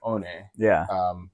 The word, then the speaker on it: One: The original One Punch Man was made by a guy named One, which is spelled O-N-E, like one.